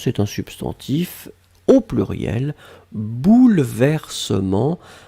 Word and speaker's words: bouleversements: substantif au pluriel bouleversements alors attention on écrit vraiment eu après le elle même si phonétiquement il n'existe pas vraiment on ne dit pas bouleversement mais on prononce bouleversement mais le 1 doit être là et bien sûr le